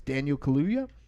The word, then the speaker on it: Daniel Kaluuya: And you guys haven't seen this yet, but I always say this guy's name wrong too, but it's Daniel Kaluuya, who was in Get Out.